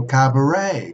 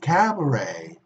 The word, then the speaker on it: cabaret: toilet in Spanish be they the same Oh cabaret cabaret gate cabaret is the same we see at E but we don't pronounce it or Cache a cachet catch a